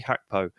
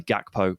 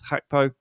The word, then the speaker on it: Gakpo: play and it's Cody hacko of the Netherlands and start with a little Service Announcement this is Cody gakpo but we found out recently that he pronounces his name as hacko which he's Dutch that